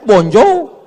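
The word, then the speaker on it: bonjour: Tulisannya bonur. Bacanya bonjou.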